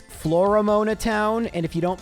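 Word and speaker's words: Floaroma Town: And we can head to Flormona Town. What's that? It's Flormona Town. And if you don't pronounce the second O enough, people think you're saying Flormon.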